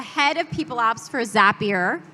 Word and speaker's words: Zapier: Chris Patrick is the head of people ops for Zapier. I am saying that right because it rhymes with happier been told.